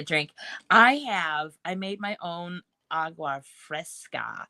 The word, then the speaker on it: agua fresca: I made my own agua fresca. How do you say it, Rebecca? Agua fresca. Yes, agua fresca.